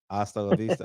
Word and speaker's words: hasta la vista: Yeah, when the kids was in there earlier, you say hasta la vista. Nigga, the H is silent. Hasta la vista. Okay, I said hasta la vista.